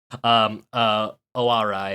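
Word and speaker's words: Ōarai: Right, but the town that it's the seaside town that is adjacent to the carrier itself, Owarai, I believe is how you pronounce it, has hilarious.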